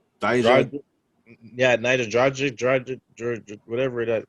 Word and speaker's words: Dijak: Dijak.